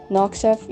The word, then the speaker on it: Noxeth: Noxeth, yes, that's how you pronounce* his name, and Solarius.